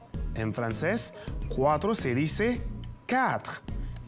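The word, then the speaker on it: quatre: cuatro en francés en francés cuatro se dice cat y se escribe cu r ahora pasamos a la actividad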